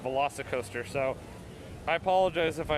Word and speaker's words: VelociCoaster: construction update i'm sorry i've been been saying volcoster i said tj has been pronouncing as soon as i saw how it was written i was like uh that's velocicoaster i mean seeing signs for it but i didn't really stop and think about that it was actually pronounced velocicoaster so i apologize if